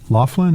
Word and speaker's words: Loughlin: involving Flossie Huffman and Lori Loughlin is how you say her name Full House woman who's